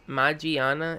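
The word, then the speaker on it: Magearna: pokemon matt gianna is i'm guessing attacks pronounced my gianna it's ma GI aana and it seems this pokemon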